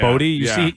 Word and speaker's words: Boddy: Boddy.